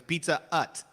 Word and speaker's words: Pizza Hut: was in in quebec you have to say it was pizza utt you don't you can't say there's no h yeah you're right you're